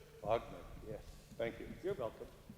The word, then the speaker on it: Wagner: Well, it's spelled W-A, but in Austria and in German, the W's are pronounced like V's, like Wagner. Wagner.